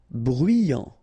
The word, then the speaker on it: bruyant: Bruyant. Final T not pronounced. So you get bruyant.